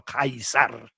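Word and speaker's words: Caesar: vedremo, del ponte di Cesare sul Reno, di quello che noi chiamiamo Cesar e che loro dicevano Kaisar perché pronunciavano in questo modo e eh quindi eh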